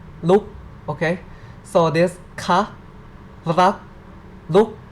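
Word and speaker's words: รัก: Okay, and it is now r, a, and this is final consonant ok, so it's like rak, ro, a, go, rak, rak, rak.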